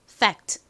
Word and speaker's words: fact: 하지만 이렇게 F가 단어의 가장 앞에 왔을 때 F는 좀 세게 발음을 해 주셔야 돼요. 그래서 사실 저희가 콩글리시로 팩트 이렇게 발음을 하지만 실제 발음은 팩트가 아니라 fact 이렇게 거의 쌍비읍에 가까울 정도로 좀 세게 발음이 됩니다.